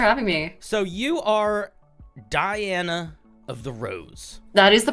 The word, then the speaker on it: DianaoftheRose: you thanks for having me so you are Diana of the rose that is the pronunciation yeah you got it you nailed it